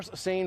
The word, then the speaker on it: seine: all now this is derived from um per sane fishing so we know uh sane is spelled s-e-i-n-e like the river send over in